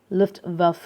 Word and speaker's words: Luftwaffe: to practice this pronunciation is it will be pronounced as german luftwaffe okay so why the german why did the